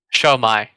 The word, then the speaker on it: Xiaomi: yeah that aside so it's xiaomi is it show me Show my yeah there you go pronouncing it properly like a true Filipino